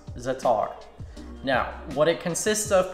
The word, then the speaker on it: za'atar: I'm not sure if I'm pronouncing it right. I believe it's pronounced za'atar.